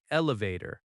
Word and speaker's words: elevator: In American English, we say elevator, not lift. Elevator has stress on vator.